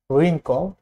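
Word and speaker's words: wrinkle: Silent ডাব্লিউটা হচ্ছে আর এর আগে এবং কিছু ওয়ার্ডের শুরুতে, যেমন রাইট, রিঙ্কল, রিস্ট।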